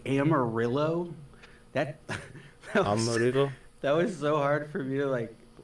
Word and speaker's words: Amarillo: know how many times because I thought they were just wrong, but no, that's how you say it apparently. You say Amarillo.